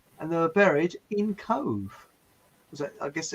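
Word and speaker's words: Cobh: Why would they wash it in Cove? Just the exact place where it happened to. I've never heard of Cove. Is it in Ireland? Yeah, but it's not spelled C-O-V-E. It's spelled C-O-B-H.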